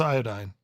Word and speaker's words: iodine: pronouncing it like the British. It's iodine.